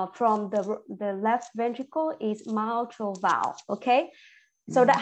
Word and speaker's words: mitral: It's pronounced my, not me, okay? It's not E-E, so we don't say it me. So mitral.